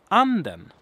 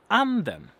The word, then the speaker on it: anden: It's just a racing tone. And it sounds like this. Anden. Anden. Kind of goes like this. Weep. Weep. Anden.